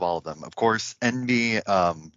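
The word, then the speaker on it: enby: these days um and it's just the phonetic spelling of what it sounds like to say in b as in the n and the b of non-binary however you do not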